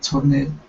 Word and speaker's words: turned: Next up, the ed ending right here. That ed. Okay, instead of turned, the e is silent. Turned. Turn. Okay, give me a D.